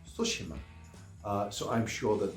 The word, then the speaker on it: Tsushima: that's actually pronounced and they spelled it out phonetically so I don't call it toshima it's sushima uh so I'm sure that there will be